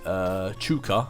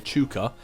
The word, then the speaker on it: Chucker: Chucker said, Spider Day. First off, the pronunciation of my name is Chuka. Oh, sorry, Chuka.